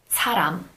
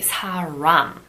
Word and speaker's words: 사람: For one thing, when we pronounce the word, for example, 사람, we don't pronounce it like the American R. We don't say 사람. We don't really roll that R, if that's the correct way to express it.